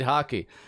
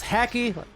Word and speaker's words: Haki: that one now uh hockey confirmed that it was indeed hockey for a while i thought it was hacky like hacky sack but no different sport